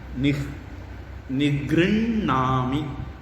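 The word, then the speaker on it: निगृह्णामि: அது மாதிரி இங்கேயும் நிக்ருண்ணாமி அப்படிங்கிறது உச்சரிப்பு. மாற்றி படித்தா யாரும் சண்டைக்கு வர மாட்டாங்க.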